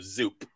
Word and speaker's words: Zoop: take it personally Mark it's Zoo like like the Los Angeles Zoo or the Bronx Zoo with a p at the end so zoop zoop yes okay or